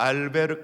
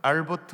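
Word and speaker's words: Albert: 아니면 작가를 좀 아십니까 알베르 까뮈 라고 아십니까 프랑스 작가입니다 영어 10 반의 발음으로 하면 알버트 라고 말하기도 하고 알베르트 라고 말하기도 하는데 실존주의 문화 까지요 그런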